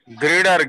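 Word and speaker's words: girder: major जो difference गडर बोलिए गटर ग्रेडर ग्रेडर बोलिए गडर मत बोलिए हेलो हा सर एक्ली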